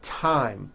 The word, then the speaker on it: thyme: spelled with a TH, they are pronounced as if they were spelled with a normal T, like that. And these words are Thomas, Thompson, Teresa, Thailand, Thames, like the river, Esther, and thyme, which is a spice.